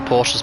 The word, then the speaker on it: Porsche: So that is a Kennedy Motorsport sandwich, of course, with the Porsches being the bread.